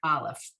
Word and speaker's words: aleph: focus on the letter aleph which is very similar to the last letter we learned last week the i in aleph is also a silent letter and we all know